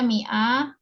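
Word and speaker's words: مائة: Dia mi'ah untuk 100 ya. Cuma tulisannya ma-nya panjang ya, tapi kita baca kasrah.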